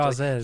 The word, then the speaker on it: Chasez: I don't know if I'm pronouncing that correctly. Chasez He was actually the real talent.